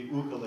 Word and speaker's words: ukulele: we call it ukulele if you go to Hawaii they say ukulele and it's supposed to be ukulele and that's the right way to say it um that means jumping